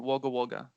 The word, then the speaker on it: Wagga Wagga: left my car in wagga wagga all right now say it like an australian all right i left my car in wagga wagga not bad actually that's